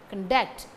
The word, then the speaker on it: conduct: Conduct, the stress falls on the second syllable, duct, conduct.